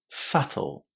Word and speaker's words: subtle: There is a silent letter here, did you know? Which one is it? It's the B, and we pronounce this word as subtle. Subtle, with a silent B and the stress on the first syllable.